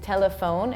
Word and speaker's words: telephone: looks like telefono but in English it's telephone and we have the e that's silent at the end and we have pH that makes F sound so it's like it